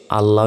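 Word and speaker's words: الله: বাড়ি দেখুন এটা হচ্ছে আল্লাহ শব্দ তো আল্লাহ শব্দ ডান পাশে জবর অথবা পেশ থাকলে লাম খারা জবর লানা বলে ল বলতে হয় আল্লাহু আমরা জানি লাম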